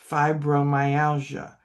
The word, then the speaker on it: fibromyalgia: Um, one of the things with um, another disease that a lot of us have is fibromyalgia. First three letters are fib. Okay, third syllable is mine.